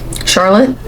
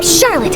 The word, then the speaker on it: Charlotte: Charlotte? I think her name's pronounced differently though, so Huh? correct me if I'm wrong. They'll probably correct me though. What? Hello. Paimon! Charlotte! Okay, it's Charlotte.